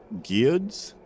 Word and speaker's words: Gyud: Gyud's? Yeah, it's spelled just like it sounds.